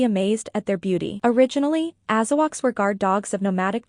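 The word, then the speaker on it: Azawakh: Azawak, $9,500. Say what? Pronounced AZ. Wak, members of the hound group are medium-sized dogs, 33 to 55 pounds.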